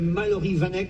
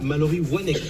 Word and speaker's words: Mallory Wanek: ou pas, qui s'appelle Mallory Vanek, c'est bien ça? Mallory Wanek. Ah voilà, j'étais Parce qu'elle sûr. vient du Schnorr. Ah, il fallait prononcer Wa et non pas Va. Mallory Wanek avec un W, elle est toute jeune.